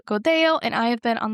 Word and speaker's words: Godello: your spot to find Godo. Oh, and quick note, when it looks like it's spelled, it looks like Godello. There's two L's, so you'll see that in the show notes.